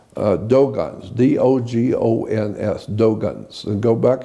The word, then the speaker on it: Dogon: Yeah, like Dogons. The is spelled D-O-G-O-N. Dogon, not Dagon.